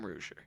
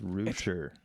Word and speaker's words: Reuscher: rouger you know I mispronounced your last name no that's right a lot of people mispronounce it it's it's all right it's Rooter I hear reuter I hear rousher I get it I